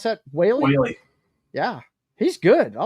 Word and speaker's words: Whaley: How do you pronounce that? Whaley.